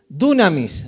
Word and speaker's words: dunamis: Poder es dunamis, así se dice. Se escribe así, pero se dice, ¿cómo? Dunamis. De ahí viene la palabra dinamita.